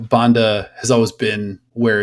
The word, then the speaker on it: Banda: A lot of people talking about our gal, your gal, the Zambian wonder, Barbara Banda, who we've been calling Barbara Banda since the World Cup, since we started doing all the research in that.